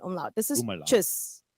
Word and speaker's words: tschüss: tschüss. Chus. Tschüss. Oh, I see. Tschüss. You could also say tschüss or tschüss, depending, like, you know. That is way too many letters for a one syllable word.